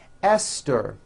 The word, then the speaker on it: Esther: spelled with a TH, they are pronounced as if they were spelled with a normal T, like that. And these words are Thomas, Thompson, Teresa, Thailand, Thames, like the river, Esther, and thyme, which is a spice.